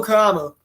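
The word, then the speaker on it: Mukuamu: I mispronounced his name earlier. Israel Mukamu. How do you say it? Israel Mukamu. Mukamu, close enough.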